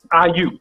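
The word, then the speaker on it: Aiyuk: I forget how to pronounce his name. Brandon Ayuk. Ayuk.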